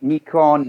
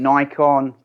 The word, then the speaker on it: Nikon: way to say it it depends on which region you're in so we've got nikon nikon nikon um yeah we just